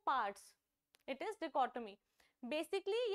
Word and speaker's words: dichotomy: डिचोटोमी ये सब नहीं बोलते हैं इसको, इसकी करेक्ट प्रोनाउंसिएशन है डिकोटमी.